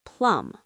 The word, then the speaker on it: plumb: If it's vertical, straight up and down, it's plum. Plum like the fruit. P L U M. Close. It's spelled P L U M B. The B is silent just like in plumber.